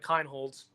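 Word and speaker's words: Kienholz: It's a guarantee Lincoln Keenholds and that's how you say his name Kinholtz Lincoln Keen Holtz I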